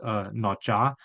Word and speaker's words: Nomtsa: And so my elder name is Notja, so it's spelled Nomtsa, and then after that.